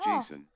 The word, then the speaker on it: JSON: N underscore sweep says it's a file type, yes, pronounced Oh. JSON.